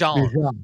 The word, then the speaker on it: Bijan: By the way, Bijan, he said that's how you pronounce his name is Yes, Bijan, like Bijan.